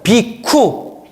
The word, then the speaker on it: 비구: 비쿠. 비구니를 따라해보세요. 비쿠니. 그래서 비쿠, 삐꾸 이러면 안 돼요. 삐꾸 아니에요. 비쿠가 이제 비구라는 발음으로 한자로 표기가 되는데 얻어먹는 자, 걸식하는 자란 뜻이에요.